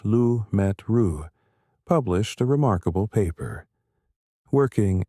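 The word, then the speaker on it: Lemaître: In 1927, a Belgian priest and physicist named George Lamett, pronounced George Lu Metru, published a remarkable paper.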